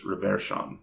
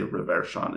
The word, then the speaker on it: Reverchon: So we're going to be talking about I think you pronounce this Reverchon because it's French. So I think you say Reverchon is the name of the company.